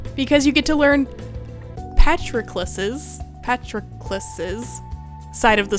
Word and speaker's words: Patroclus: his ill-fated romance with petrocleus petrocleus how do you say that hold on patrocles pronunciation patroclus i was saying it wrong patroclus there we go should